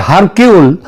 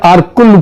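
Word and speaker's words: Hercule: আঘাতা কৃষ্টি এবং তার গুণ গোয়েন্দা আরকুল পোয়ারো এটা যদিও ওই উচ্চার উচ্চারণে এটা হয় হারকিউল কিন্তু একচুয়ালি উচ্চারণটা হচ্ছে আরকুল পোয়ারো তিনি যদি আজ বেঁচে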